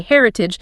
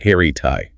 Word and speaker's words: heritage: Many people read it phonetically and say heritage, making the ending rhyme with the word page or rage. That is incorrect. The ending is soft. It is pronounced heritai. Think of the word fridge, heritai.